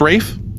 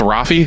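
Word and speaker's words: Ralph: lead uh r i I believe it's pronounced Rafe that's how I pronounced it or it's rafie from the league I don't know but um he's been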